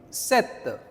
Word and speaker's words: cet: Now the third ce. How do you pronounce this? Set. Set. Okay.